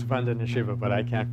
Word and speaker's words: Vandana: Yes, Vandana, the first syllable, Vandana.